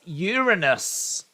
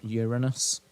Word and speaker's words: Uranus: I'm an astronaut and my next mission is Uranus doesn't really make much sense unless you pronounce the planet incorrect but uh I get